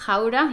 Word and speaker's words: Gouda: I once drove past Gouda, yes, that's how you pronounce it, and all of a sudden I saw the water in the canal was higher than the road.